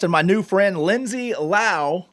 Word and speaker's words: Lowe: and it's called Lindsay Lao Music. So go ahead and like that if you want. And that's Lindsay spelled normal, right? Lindsay. Yes. And it's Lao, but it's spelled like Lowe.